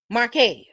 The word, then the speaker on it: Marquez: The following week, Heavenly and Carlos sat down with, is it Marquez? Marquez. That's how you pronounce it.